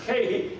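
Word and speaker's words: καί: Yeah, that word and in between each one of these, it's a Greek word kahi, and it's spelled K-A-I. It's pronounced kahi, and it links those all together into one.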